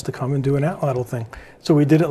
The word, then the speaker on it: Atlatl: go right into the, I'm not going to pronounce this correct, Atwile? No. Atlatl. Atlatl. I've been practicing it, apparently not enough.